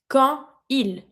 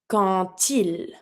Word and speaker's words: quand il: When I'm going to say when he, quand il. It's a D, T sound. Quand il. Quand il. I pronounce my D like a T.